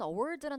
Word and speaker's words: award: 여러분, award라 단어는 귀로 접하면 잘 안 들리는 단어로 유명해요. 왜냐면 word. 한번 발음해 보세요. word. Award word 하면 어때? 발음이 약간 이렇게 개방적인 사운드가 아니라 안으로 이렇게 묻히는 사운드잖아요.